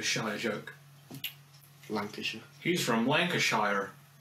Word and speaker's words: Lancashire: joke Lancashire he's from Lancashire no Americans it's pronounced Lancashire bloody americ those godamn Americans